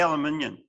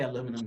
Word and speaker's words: aluminium: do you say it we say aluminium yeah aluminum we can we say aluminum here but it's the same wow there's the um